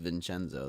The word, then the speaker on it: Vincenzo: There's no ch in vincenzo. Yeah, it's still pronounced vinenzo though 20 20 25 minute walk.